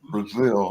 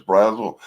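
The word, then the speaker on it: Brazel: David and David Raymond and Gracie Brazil. That's the way they pronounce the name. Everybody on TV always says Brazil, but the people I know who are related to him pronounce the name Brazil.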